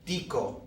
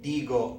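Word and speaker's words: digo: it's pronounced instead of dico so you would expect d-i-c-o but we're going to say and write diigo with a G instead of a c verbs like segue and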